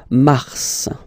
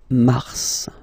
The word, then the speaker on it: mars: So in a way, it's an exception because normally final S is not pronounced in French, okay? We've got some exceptions, and this one is one of them. So mars, pronounce the final S, mars, mars, okay?